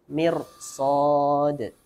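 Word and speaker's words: مرصاد: isti'la khussa dhaghtin qid, maka ra-nya dibaca tebal walaupun sebelumnya kasrah. Contohnya mirsad. Sa kan termasuk huruf isti'la, maka ra-nya walaupun sebelumnya mim kasrah maka dibacanya tebal, mir, tidak mir, tapi mir. Mirsad.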